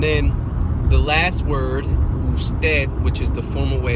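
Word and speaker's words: usted: the last word or stead which is the formal way of saying you it's commonly pronounced like this who's dead well if you fix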